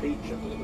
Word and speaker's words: Beauchamp: This is called Beecham Place. It's spelled Beauchamp in French. Yeah, Beau means beautiful, champ means field. And we pronounce it Beecham, nothing like what it's spelled at all.